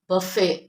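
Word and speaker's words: buffet: wrong use होती है तो इसको हम क्या प्रोनाउंस करेंगे बफे इट नॉट बुफेट इट इज बफे बफे भले भले घर में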